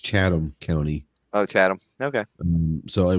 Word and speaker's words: Chatham: uh Chris Su says the Chatham it's actually pronounced chadam no h chadam County oh chadam okay so we've been [